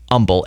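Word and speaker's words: Humble: Houston called Umble um we don't pronounce the h for the city Umble h u m b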